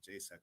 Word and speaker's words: JSAC: thought i should say j s a c it's very uh difficult to pronounce but jaisak is very friendly sound so uh and also